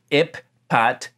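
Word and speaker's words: ephphatha: letters are being doubled so in transliteration it would be ipat but it's possible that in the dialect that stands behind the word that's being quoted here that both of these letters would have had the soft pronunciation in this word now we don't have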